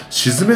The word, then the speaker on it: 鎮: ラブリパのシズメさんと読むんですね先ほどあの調べ